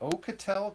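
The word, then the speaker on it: Oukitel: it from over here from me and you pronounce this for me but the ocatel company that's what I'm going to call it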